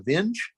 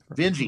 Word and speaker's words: Vinge: How do you pronounce his name? Vinge? V-I-N-G? Vinge.